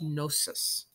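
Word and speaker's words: Knossos: discovered the city of gnosis I think the K is silent okay one of the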